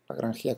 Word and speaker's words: Lagrangia: Aunque sí, es verdad que emigró a Francia y Alemania, trabajó, pero es un italiano, Giuseppe Lodovico Lagrangia, Lagrangia como lo pronuncian los italianos.